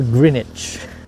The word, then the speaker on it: Greenwich: And may I ask you what is the right pronunciation of this park? This park? Yeah. Greenage. Greenich. Thank you. Thank you mate. So Grenich.